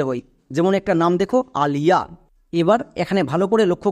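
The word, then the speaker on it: Aliya: তাহলে নাম লিখতে গিয়ে আমি যদি আয়ের পাশে ওয়াই দেখতে পাই শুধুমাত্র হস্তিকার সাউন্ড করব। যেমন এ, এর জন্য আ, এল, এল এর জন্য লো। তাহলে এ এল কি হলো? আল, নট অল। অল কিন্তু বলা চলবে না। নেক্সট আই ওয়াই এর জন্য হস্তিকার, তাহলে আল প্লাস হস্তিকার কি হয়ে গেল? আলি। নেক্সট শব্দের শেষে এ আছে, শব্দের শেষে এ থাকলে আকার সাউন্ড করতে হয়, তাহলে আলিয়া। সো এটা কিন্তু নাম, এটা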